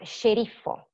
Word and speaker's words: sceriffo: We have sceriffo, schiaffo, scuro, scivolo, muscolo, ascensore.